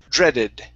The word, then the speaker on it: dreaded: Let's go to our word dreaded right here instead of dreaded. Okay. This is a short E sound. Dreaded.